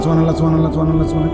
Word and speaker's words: সুবহানাল্লাহ: সুবহানাল্লাহ। সুবহানাল্লাহ। কিচ্ছু হয় না। হা উচ্চারণ না হলে তো তাসবি হয় নাই। শেষের গোল হাটা সাকিন করতে হবে এবং প্রত্যেকবারই নিঃশ্বাস ফেলতে হবে।